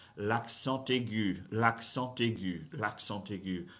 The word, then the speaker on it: l'accent aigu: Now, you may have noticed that I pronounced the T sound in when I said l'accent aigu. Why did I do that? Liaison. I did the linking thing, right?